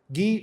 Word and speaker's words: Guy: then appoints her husband G of Lucan as the king of Jerusalem if you read in the English literature by the way it's spelled as guy his name is not guy G of linon is